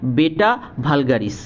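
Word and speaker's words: Beta vulgaris: উদ্ভিদ উত্তর হয়ে যাবে বেটা ভালগারিস বা বিটা ভালগারিস উচ্চারণ করতে পারো অসুবিধা নেই নিম্নলিখিত কোনটি বক্তব্য সঠিক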